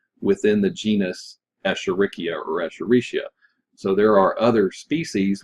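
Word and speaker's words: Escherichia: Echaricia or Echurikia. There are a couple of different pronunciations for that. Apparently, Echerikia is the correct pronunciation, but Echaricia is what most people say.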